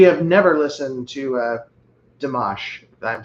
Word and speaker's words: Dimash: I have we have never listened to uh Dash if I'm saying that correctly. How do you spell that? D I M A S H. He's from Kazakhstan. Uh, what was that after the N? A. Damash.